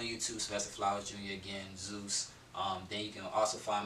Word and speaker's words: Zues: Is Zues, and it's not spelled Z-E-U-S, it's spelled Z-U-E-S. And I did that because people call me, and then the U-E-S, it kind of looks like, so it's like Zeus.